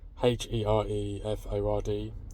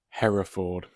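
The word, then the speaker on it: Hereford: Here for H E R E F O R D. Here Ford. I don't know. Just going to stop myself right there. It's uh pronounced Hera Ford, not here ford.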